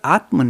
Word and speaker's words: Atma: The word Atman, you may think there are two words we need to kind of distinguish. One is Atman, that is, Atma is the right pronunciation.